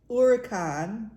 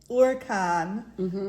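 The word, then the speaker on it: huracán: um from the 1550s a partially deformed adoption of Spanish uran because H is silent right uran uh Gonzalo Fernandez deoo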